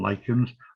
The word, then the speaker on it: lichen: You'll notice that I pronounce them as lichen. So any aspiring limerick writers can now tear up the opening line about a young lady from Hitchin.